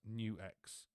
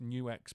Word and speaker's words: Nux: The Optima Air is an acoustic amp IR loader, and it's pronounced New X.